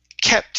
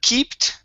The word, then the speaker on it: kept: Next up is the word kept instead of keeped. Okay, it's a short E, and so she kept at it.